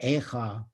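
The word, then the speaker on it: איכה: the book of Lamentations, the word Echa, is pronounced with almost a catch in one's throat to convey the breath-stopping shock in the face of the destruction that it describes, that we're almost taken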